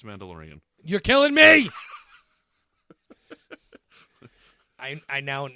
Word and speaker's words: Mandalorian: Sorry, it's pronounced mandolin. With even an IAN? Yeah, it's just pronounced mandolin. Okay, let me start that over. We're going to do a special here today, and we're going to cover the mandolin. I'm just kidding. It's Mandalorian.